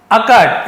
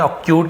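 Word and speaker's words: occult: का, माई यानी मेरे, अकट, इसे हम अकट पढ़ते, अकट नहीं पढ़ेंगे, अक्यूट नहीं पढ़ेंगे, इसे हम पढ़ते अकट, है ना, अकट का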